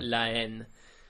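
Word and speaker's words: La Haine: yeah which is actually it's LA and then it's h a i n e so it's h but it's a silent h so Len and uh that just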